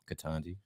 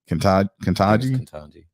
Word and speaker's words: Ketanji: I always say her name wrong though. Is it Ketanji? Ketanji.